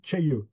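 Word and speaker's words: Cayeux: Alors, Cailleux-sur-Mer, ça se dit pas Cailleux ni Cailleux, ça se dit Tcheilleux, hein, voilà, un Tcheilleux. Voilà.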